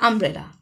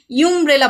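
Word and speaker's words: umbrella: আমরা কিন্তু ইউমব্রেলা বলি না, কি বলি? আমব্রেলা। যেহেতু ইউ এর উচ্চারণটা আয়ের মতো হচ্ছে, তাই এটা হয়ে যাবে অ্যান আমব্রেলা।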